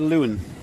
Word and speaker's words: Lewin: you say his first I said Lewin so it's Ewing with an L that makes sense on